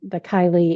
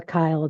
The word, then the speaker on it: chyle: So um, the chyli is or chyle, depending on who you talk to, it's going to pronounce it.